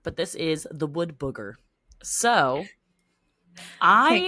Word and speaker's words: booger: I keep saying burger in my like when I say it like wood burger, but it's booger. Like picking your nose.